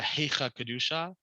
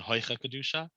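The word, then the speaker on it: היכא קדושה: is the idea of a Heicha Kedusha in sort of more old school pronunciation, Hoicha Kedusha, which means a hurried Kedusha.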